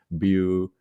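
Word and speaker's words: Vue: diferencias entre react angular View o bu en dependencia de si lo estás pronunciando como Debería ser realmente en el idioma francés Aunque la pronunciación debe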